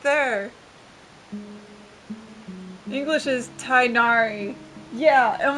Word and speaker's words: Tighnari: should be pronounced uh in Japanese the G is removed it's teenari how do they also